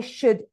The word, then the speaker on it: should: If you notice, I'm not pronouncing the L in would or in should or in could.